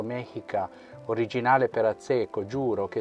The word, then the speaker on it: Mexica: Mexica, pronunciato Mexica, originale per Azzecco, giuro che essendo al 95%